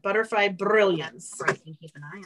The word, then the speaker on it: Butterfly Brilliance: And you have to roll your R when you say that. Butterfly Brilliance.